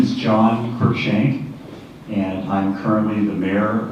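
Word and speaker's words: Cruikshank: the starting thing with me is how to pronounce all those letters so my name is John kir shank and I'm currently the mayor of the city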